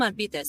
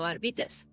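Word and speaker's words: Arbites: Yeah, I'm going to call him Arvitz. That's how you actually pronounce it because it's supposed to be uh Latin. So, Arvitz.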